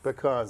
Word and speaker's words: pecans: in the production of pecans or pecans. How do you say that? I say pecans. Pecans, there we go. Okay. Dinah says it the correct way, pecans.